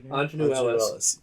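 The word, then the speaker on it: Aunjanue Ellis: Ingenue Ellis.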